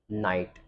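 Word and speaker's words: know: एन ओ व नो तो ध्यान रखना है की के बाद एन आता है तो हम केक को प्रोनाउंस नहीं करते हैं हम नए को प्रोनाउंस करते हैं जैसे की एन ओ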